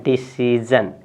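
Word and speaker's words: decision: देखिए फिर ये ज आ गया। ठीक है ना, तो ज इसलिए आ गया कि यस आई ओ के जस्ट पहले ई है आपका। क्या है, ई। ठीक है ना, तो आप पढ़ेंगे इसको, लिखा है DICE, तो इसको पढ़ेंगे डिसीजन।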